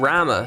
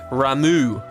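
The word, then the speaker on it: Ramuh: okay Tara Tara and Rama says she's frightened oh sorry we're supposed to pronounce that differently aren't we ramu so he's off to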